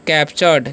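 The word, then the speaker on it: captured: और इसे पढ़ते हैं कैप्चरड क्या पढ़ते हैं कैप चर्ड ठीक है क्योंकि यहां पर जो है इसका टीयू आर का उच्चारण च होता है इसे पढ़ते हैं हम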